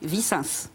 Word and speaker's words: Vicens: J'ai bien prononcé votre nom? Oui, Vicens.